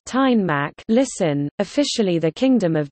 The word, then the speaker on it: Danmark: Denmark, Danish, Danmark, pronounced Tegnmark, listen, officially the Kingdom of Denmark, is a sovereign state and Nordic country.